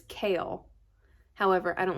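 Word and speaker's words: Chaol: was from it's chaos you have to say his name like chaos so it's kale however i don't like that so i call him cole it's told from cole's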